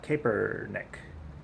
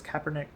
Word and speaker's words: Kaepernick: in the news is a caper Nick and I don't really follow football that much so I might have pronounced that wrong I think it's Kaepernick Kaepernick Kaepernick and anyways he's